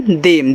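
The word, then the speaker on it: them: टी एच ई एम देम।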